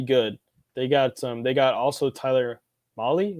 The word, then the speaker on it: Mahle: They got also Tyler Mahle. Is that how you say it? Mahle? Yep, from the Reds.